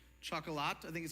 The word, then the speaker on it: Chocolat: a few years old now it's movie called Chuck a lot I think is how you pronounce it someone early in the service was like it's pronounced shock Allah I was like I'm not doing it on